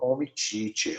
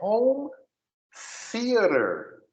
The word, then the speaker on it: home theater: O home teacher é home theater. Home É esse TH.